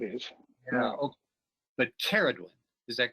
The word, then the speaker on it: Ceridwen: Hu, and it's interesting, Carrie pronounces Ceridwen. I've been pronouncing it Ceridwen. I haven't looked it up to see if that's a hard C or not. Carrie, do you have some authority around that Ceridwen pronunciation? Good. Yes, I'm Welsh, and most of these names are Welsh. Okay. So it is Ceridwen.